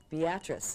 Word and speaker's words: Beatrice: Listen, we have a city in Nebraska that is Beatrice, and we pronounce it Beatrice.